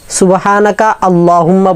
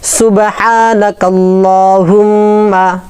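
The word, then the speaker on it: سبحانك اللهم: সুবহানাকাল্লাহুম্মা সুবহানাকা আল্লাহুম্মা বলি অনেকে, সুবহানাকা আল্লাহুম্মা বলবো না।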